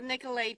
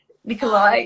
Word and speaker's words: Nikolay: it's funny um because even i used to say the name wrong at the beginning which is hilarious oh my goodness peter kept correcting me saying nikolai i was like but it's got a y at the end so also you guys